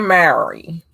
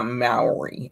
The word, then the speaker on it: Mowry: little bit more delightful so to speak tia mary uh maori i gotta say it right you know tien